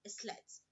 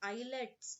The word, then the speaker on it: islets: It is not islets. It is pronounced islets of Langerhans of pancreas.